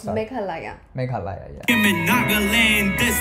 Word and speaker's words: Meghalaya: Arunachal, Assam, Manipur, Mizoram, Meghalaya, Tripura, Sikkim. It's Meghalaya. Yeah. You were saying it wrong too. I was saying it wrong. It's sorry. Meghalaya.